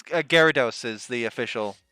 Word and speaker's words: Gyarados: pronunciation i think it's gyarados is the official pronunciation um but i just i wasn't looking that close then it looks like gyro at the start so i was like gyro that's totally fair uh